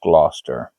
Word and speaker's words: Gloucester: in the series called The Tailor of Gloucester. That's how you say it, or that's how you kind of should say it.